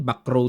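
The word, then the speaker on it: Bacrot: Ayan kung bigkasin po yan. Backrow daw eh. Pero sa atin kasi tagal kong binabanggit diyan, bakrot. Bakrot naman talaga eh. Eh bakit sa ibang bansa back rrow?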